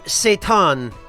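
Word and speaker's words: seitan: gluten that I prefer which is called Satan and uh it's spelled s ei for anybody who's curious, but um I believe it's made out of uh vital wheat gluten.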